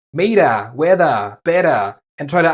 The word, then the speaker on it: Meter: ER in British is but in German it's always pronounced a somewhat dull a. For example, the British English meter would be Meter in German.